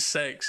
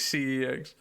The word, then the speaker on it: CeX: I've never met anyone that pronounced it sex. It's always CEX.